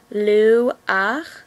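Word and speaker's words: לוּחַ: The correct way to say it is she-ach. This only happens when a chet and the a come at the end of a word. So a, she-ach, ru-ach, lu-ach, mo-ach, o-re-ach, bo-re-ach, ya-re-ach.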